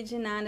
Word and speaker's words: de nada: I think that in São Paulo, the most common pronunciation is de.